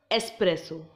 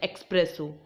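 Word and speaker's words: espresso: आभूषण next word is एस्प्रेसो एस्प्रेसो there is नो एक्स so don't pronounce it एज एक्सप्रेसो यह एक type of टी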